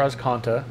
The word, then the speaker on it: Azcanta: Search for Azcanta is obviously how you pronounce it, but in honor of Steven being Yeah, here.